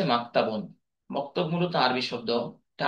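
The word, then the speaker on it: مكتبٌ: তো মাদ্রাসাতুন ইবতেদাইয়াতুন এই শব্দের আরেকটি আরবি রয়েছে মাকতাবুন, আমরা মক্তব বলে থাকি। এই মক্তব মূলত প্রাথমিক বিদ্যালয় বা প্রাইমারি স্কুল। মক্তব এর আরবি উচ্চারণ হচ্ছে মাকতাবুন।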